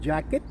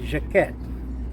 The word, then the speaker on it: Jaquett: name is uh I pronounce this jacket but different family members pronounces pronounce the different ways but I accept uh whatever you say some people call us jacket some people Jack quit I pronounce my name right now as jacquette and that's the French form of the pronunciation of the name so actually your name